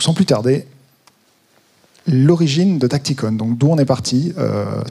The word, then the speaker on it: TactiCon: Donc aujourd'hui, on va vous parler de Tacticon, on prononce à l'anglaise.